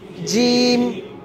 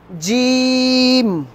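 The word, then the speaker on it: جيم: জিম, জিম। জয়ের উচ্চারণ শক্ত করবেন, জ আছে না জ, এই জয়ের উচ্চারণটাকেই মজবুত ভাবে জিমের উচ্চারণ হবে।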